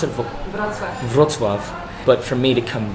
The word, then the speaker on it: Wrocław: She made it out to Israel from Poland, from how do you pronounce it? Wrocław.